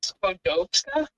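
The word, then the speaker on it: Skłodowska: It comes up as Skodowska.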